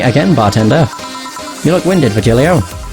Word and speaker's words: Virgilio: bartender you look winded Virgilio it's pronounced it via Helio of the hurry oh